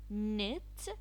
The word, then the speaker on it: knit: to fix things other vocabulary knob a doorknob knit when you knit a sweater not not when